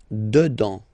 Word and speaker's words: dedans: Final S not pronounced. Dedans. Dedans.